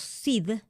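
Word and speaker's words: sidh: Eh, pero estas hadas llamar los SID, que se escribe s i D h.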